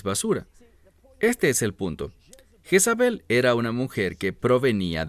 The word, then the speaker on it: Jezabel: a esa mujer Jezabel ahora el término Jezabel Esa es la pronunciación en español en hebreo es isebel y el término I